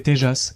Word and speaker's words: Tejas: On l'a appelé TJAS et après beaucoup de recherches, j'ai appris que ça se prononce ainsi et que cela signifie radieux en Indie.